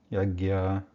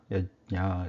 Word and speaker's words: यज्ञ: Sometimes it is pronounced like Yagya, Yajna, etc.